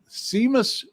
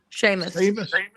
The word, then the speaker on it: Seamus: So I just asked Google Gemini uh Seamus Kulitin Sheamus Sheamus Sheamus Jamie keeps me honest on pronouncing things and understanding screen name puns.